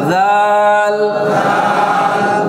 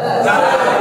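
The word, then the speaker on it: د: জি দালের মধ্যে নুক্তা নাকি দালের মধ্যে নুক্তা দালের মধ্যে হ্যাঁ জোশের থাকে জোশের সাথে কি থাকতে হবে খুশ থাকতে হবে কেমন তো নোক্তা কোথায় ডালে ডালে ডাল ডাল ডাল ডাল ডাল ডাল ডাল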